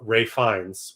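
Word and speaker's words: Ralph Fiennes: He's sent to Bruge with Brendan Gleon, who's like his handler teacher, and, uh, Ray Fines, which is spelled Ralph Vienn.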